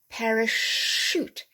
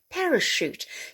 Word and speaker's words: parachute: at this one so in general words originating from french will have a soft ch like the sh sound okay so we have para shoot parachute you know the soldiers